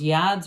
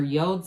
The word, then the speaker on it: yods: But I do feel like with that moon energy, you've got those yods or yods of the tarot, however you like to say it, both acceptable pronunciations.